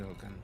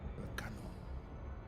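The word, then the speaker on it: Elcano: Juan Sebastian El Canto. El Cano. I had an extra syllable for nothing.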